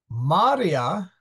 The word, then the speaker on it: maria: Maria corpora aquae sunt. Maria are bodies of water. The I is short, and therefore the A is stressed.